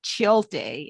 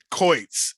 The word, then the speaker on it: Choitz: fellow Visionary and it's Nick chill day nope I say your last name wrong every time Nick coits and yes everyone does